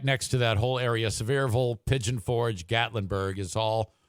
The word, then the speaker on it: Sevierville: I think it's Sevierville or Seaverville. Yeah, or something like that. That's actually pronounced Sevierville. Is it? Or Sevierville, as they say there, Sevierville.